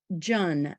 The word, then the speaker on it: Jun: And kombucha and Jun, J-U-N, rhymes with sun.